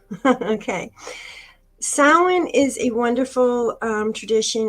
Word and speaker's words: Samhain: I'm going to talk about all right so Sam Hayne blessings Sam hey pronounce wrong sound okay Salin is a wonderful tradition it's New Year's again